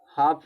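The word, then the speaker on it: half: हाफ में क्या होता है? एल साइलेंट होता है।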